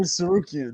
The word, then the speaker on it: Tsarukyan: Those the Armenian names are Arman Tsarukyan. Tsarukyan. There you go. Thank you, bro. Freaking Mr. B's better at me in pronouncing these guys.